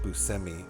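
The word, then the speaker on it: Buscemi: How many goddamn great movies has Steve Busi been in?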